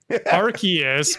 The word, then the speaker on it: Arceus: of this legendary pokemon mike who is arceus arceus pronounced correctly is correct i'll take gamers for 500.